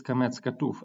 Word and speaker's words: qamets chatuf: word we have a comet's hatref which should be read as o so how do you know that this is comets katuf and why it is